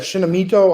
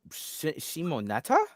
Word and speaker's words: Shimoneta: Well, I mean, but you do enjoy some fictions with sexualized kids in it, like that Shinamito. How do you say it? Shinamito. Uh, Shimoneta?